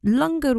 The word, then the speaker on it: langar: extend this out and and I'll explain more lunger week uh it's become an annual date in